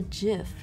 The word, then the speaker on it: GIF: and she's wrong um he pronounces a jiff like that buddy actually stands for get graphics interchange format right and graphics you don't say giraffe ik's am I gonna get